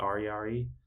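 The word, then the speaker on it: ariary: they made their own currency it's called the arari I think I might just just pronounce that it's spelled a r i a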